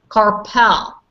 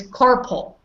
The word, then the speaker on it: carpal: is no car and there is no pool it's carpool hmm all right a